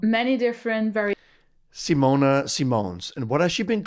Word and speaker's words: Simone Simons: Um the Dutch way to pronounce my name would be would be Simona Simons, but I've been called many different variations Simona Simons.